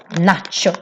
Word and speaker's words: nacho: For example, nacho chips. Eller we do this taco Tex-Mex. So here we have nachos, but we pronounce it, of course, the Swedish way, which is quite long vowels.